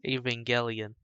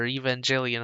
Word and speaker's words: Evangelion: to the to the the most known evangelion or evangelion how i used to pronounce it until i heard other people pronounce it correctly do you remember when